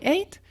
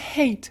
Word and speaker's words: hate: N'oublie pas les H en anglais sont importants. Donc là, je dis pas I hate, je dis I hate. Je prononce bien le H.